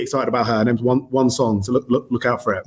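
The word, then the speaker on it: Wang Cong: It's not spelled like that. It's W-A-N-G and then C-O-N-G. But yeah, still one song.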